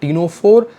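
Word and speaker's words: Ctenophora: है एक फाइलम है टीनो फ सी साइलेंट है इसमें और एडल्ट अकान र्म्स दे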